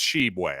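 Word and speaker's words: Tshiebwe: that right now is oscar shebway or toshibwe sorry that's a tough one for me i believe it's shebway i don't think i believe the t is silent but regardless you may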